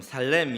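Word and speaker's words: שלום: 이제는 또 제가 하는 버전으로 샬롬, 샬롬. 네. 발음 잘못하면 샬롬 하면 놈 하는 것 같아서 저는 그냥 히브리어 원어 발음처럼 살렘 이렇게 말을 하는데요.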